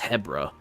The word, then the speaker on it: Hebra: I have been calling it Hebra this whole time, but according to Zelda and in the Zelda notes, it's actually pronounced Hebra. So, oops. And I guess I should have I should have realized that cuz it it'd be it would definitely be Hebrew if it was two E's, but it's only one E.